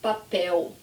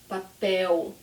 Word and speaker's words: papel: Okay, so another word, say with me, papel. So again, the L is at the end, papel. And remember, my tongue does not go up, papel.